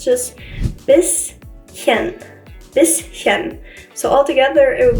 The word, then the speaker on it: bisschen: friend says it was bisschen, and she pronounced it as an esh, but it's not exactly an esh in this case, it's just bisschen, bisschen.